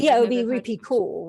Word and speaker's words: Kaur: Do you know how to pronounce her surname properly? Yeah, it would be Rupi Kaur, right?